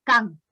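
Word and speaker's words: K'an: ahí estaban los Can, se escribe con KH, es decir, K''AN, Can, son los príncipes Can,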